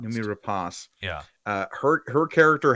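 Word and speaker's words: Noomi Rapace: why and numi race how do you say your last name uh numi rapas I believe is how it's pronounced numi rapas yeah uh her her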